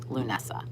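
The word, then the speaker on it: Lughnasadh: it in my head it's spelt not like it sounds it's a it has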